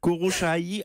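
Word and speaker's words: Khosrowshahi: Et donc, le nom, c'est Khosrow-Shahi, à peu près prononcé comme ça.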